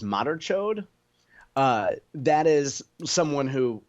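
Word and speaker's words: madarchod: then c h o d e which is pronounced Moder chod uh that is someone who who has love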